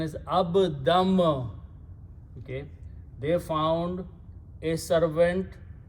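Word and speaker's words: عَبْدًا: So pronunciation is abdam.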